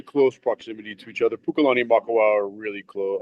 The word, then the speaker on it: Pukalani: the name ma maa tell me if I'm pronouncing this right puka Pukalani yeah and then Hau are those are all